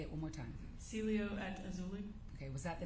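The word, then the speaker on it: Cielo Azul: the aelia how do you say it again Celio at auli say it one more time Celio at auli okay was that the name of the apartment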